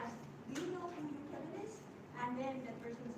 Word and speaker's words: Jochebed: So in English, her name is Jochebed, but in Hebrew they pronounce it Yochebed. Yochebed.